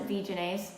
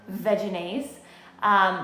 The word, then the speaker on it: Vegenaise: other eating at home see there we go vegenaise some people pronounce it v-ginase but i pronounce it vaginase this product has been around for years this